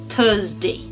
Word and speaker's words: Thursday: T-H-U-R, thur. Thur. Not thr. Okay? Thur. Z-day. Thursday.